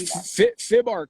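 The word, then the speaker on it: FIBArk: So the one in your hometown is called I'm going to pronounce it FIBARC or yes, FIBARC.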